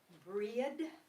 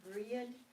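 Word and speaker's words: Brighid: And the particular goddess who was celebrated at Imbolc is, her name is Breed, B-R-A-H-I-D, Breed. She was considered the daughter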